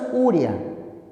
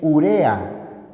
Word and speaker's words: urea: en N se tilda la palabra no es urea es urea se trata de una palabra grave por lo tanto no lleva tilde y ya sabes no